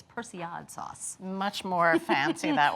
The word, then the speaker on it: persillade: of my all-time favorite sauces and i've been pronouncing it wrong for many years i've been calling it personality sauce but actually it's persian sauce much more fancy that way yes but